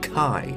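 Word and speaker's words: χ-blade: to it as that this symbol is pronounced as key meaning def however even say a nought mentioned some pronounce it as KY why didn't you just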